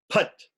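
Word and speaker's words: फट्: Kavachaya Hum, and Put, which some people wrongly pronounce as Put, Pate. You can say Pate because that T at the end, we need to make it, emphasize it so we can say Pate.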